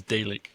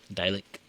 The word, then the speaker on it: Dalek: So, um the next one I'm going to pull up is Dick or Dalek. Dalek. Yeah. It's spelled D- A L E K.